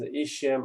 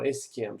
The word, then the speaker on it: ischium: and posteriorly and inferiorly this is ischium or skm so both pronunciation is okay so this is a